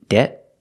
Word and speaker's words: debt: Deb they're very similar one's a stop T and one's a stop D but other than that difference they're pronounced almost the same again the first word is debt and the second word